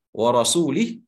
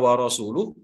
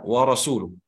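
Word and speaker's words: وَرَسُولُهُ: Bahkan para sahabat, karena salahnya salah seorang sahabat yang lain memberikan baris, innallaha bari'un minal musyrikina wa rasulih, yang seharusnya dibaca wa rasuluh, tapi karena cuma sekedar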